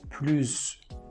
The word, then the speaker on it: plus: Second, if we have a noun starting with a vowel, we have to pronounce this word as pluz.